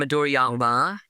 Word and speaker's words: Midoriyama: Yeah, I mean, it's just the M at the end, Midoriyama.